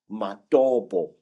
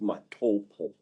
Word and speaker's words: Matobo: And one of these parts of Africa, say, is a remarkable place called the Mountains of the Round Rocks, Matobo, wrongly pronounced Matopo, in Zimbabwe.